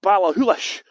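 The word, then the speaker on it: Ballachulish: do you pronounce it sorry so yes it's pronounced baller houlish and it's just a sculptor they've got various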